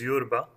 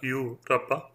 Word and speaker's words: Yurba: Since the pronunciation is Yurba and not Yu-Rabba, I think we are justified in considering Yur another form of Ur.